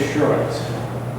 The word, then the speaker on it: Schoorens: have trouble pronouncing it say the word insurance now drop the i in that's what I used